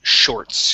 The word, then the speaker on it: shorts: All right, let's go to, okay, let's start off on shorts here. Okay, so with the with this word, you want to pronounce that SH at the beginning. Instead of shorts, it's shorts.